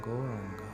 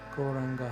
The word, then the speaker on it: Gauranga: going to chant some gauranga now koranga has four syllables and and we start